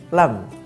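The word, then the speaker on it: ل: seri yang atas maka huruf lam diucapkan tidak boleh mengeluarkan atau menjulurkan lidah kita maka menyebutkannya dengan la seperti itu tidak boleh keluar lidahnya la itu yang keliru Kita juga bisa latih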